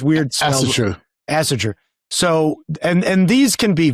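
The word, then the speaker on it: Ásatrú: Asartu. It's weird spells. Asatru.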